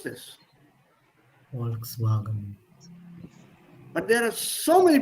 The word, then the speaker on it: Volkswagen: So you have to pronounce this. Volkswagen. But there are so many people in the country, in the world, who mispronounce this. The Americans are the worst offenders. Oh, I have a Volkswagen, you know.